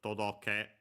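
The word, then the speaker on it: とどけ: Uh I uh by the way, you might have a heard todoke. On its own should be accented on the last syllable.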